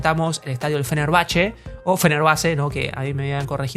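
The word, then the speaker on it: Fenerbahçe: video we presented the stadium of fenerbache or fener bace no that they had corrected me that it is pronounced fenerbache stadium east of the Great team from Turkey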